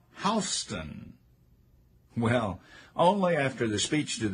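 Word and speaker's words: Houstoun: of a Georgia Governor is pronounced in Georgia like how well only after the speech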